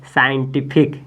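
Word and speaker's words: scientific: एस सी के बाद आई है इसका मतलब है सी साइलेंट हो जाएगा तो पढ़ेंगे साइंटिफिक क्या पढ़ेंगे साइन साइंट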